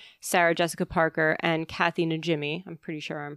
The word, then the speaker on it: Najimy: Have you met the three main actors, Bette Midler, Sarah Jessica Parker, and Kathy Najimy? I'm pretty sure I'm pronouncing that correctly. Yeah. Najimy.